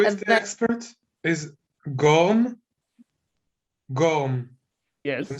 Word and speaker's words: Gorm: Gorm. Yes. I'm saying it right? Yes. Are you Dutch? Well, you could say it's not exactly, but also So is it not Gorm or is exactly.